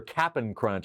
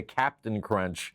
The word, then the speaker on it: Cap'n Crunch: I know it's spelled correctly here, Cap'n Crunch. I think I say Captain Crunch in the song, and I've been reprimanded. No, it's Captain, not Captain, Captain.